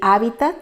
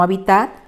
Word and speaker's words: hábitat: Lo correcto también es decir hábitat y no habitat, es decir intervalo y no intervalo, como se escucha con bastante frecuencia.